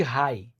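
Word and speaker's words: Reye: Em criança e adolescente, o ácido acetil salicílico pode desencadear uma síndrome chamada síndrome de Rai. Rai se escreve R e Y E.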